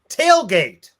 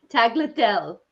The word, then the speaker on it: tagliatelle: This one, tailgate. Tagliatelle. Sure. Tagliatelle. Oh, Tagliatelle. I wonder why Jeanette knows how to pronounce that.